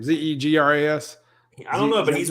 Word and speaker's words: Zegras: Oh, Witt says Zegras. All right. So it's one of those few hockey names that looks exactly like it spells.